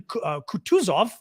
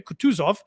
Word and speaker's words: Kutuzov: One is Roman Kutuzov, I'm going to pronounce it that way, Kutuzov, Kutuzov, or Z-O-V, pronounced F in Russian.